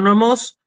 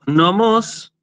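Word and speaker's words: νομός: En cambio, jo nomos, con el acento en la última omicron, significa el prado.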